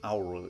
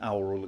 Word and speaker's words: aural: An aural experience. A-U-R-I-L. How is that supposed to be pronounced? Because it sounds like oral, O-R-A-L. But yes, an aural experience.